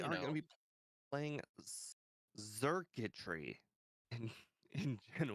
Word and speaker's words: Xurkitree: stuff that starts with an X is just hard to sound. A lot of the time it sounds like a Z.